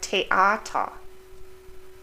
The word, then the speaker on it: Theater: In English it would be th, but in German it's t, like Theater, Theorie, or thermometer. It's like a simple T.